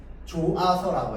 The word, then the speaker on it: 좋아서: 표기할 때는 히이 살아 있어요. 그런데 발음할 때는 어떻게 조아서라고 해서 달라집니다.